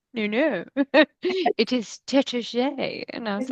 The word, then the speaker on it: Taittinger: when I went to what I had always called Taitinger. And Yes. they're like, oh no, it's Tétager. And I Oh, was like, oh, Tete. Tétager. And it's like, that's not how it's not spelled like that.